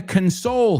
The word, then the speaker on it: console: Depending on where you see it, it's going to have a different pronunciation, whether we're talking about the noun, a console, like the PlayStation, or to console somebody who's going through a difficult time.